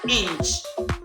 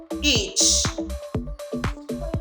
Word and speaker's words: itch: So please we have to take note of the correct pronunciation. The word is not inch. The word is itch.